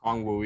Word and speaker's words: Okongwu: Okongwu. Is that how am I saying it correctly? Okongwu, yeah.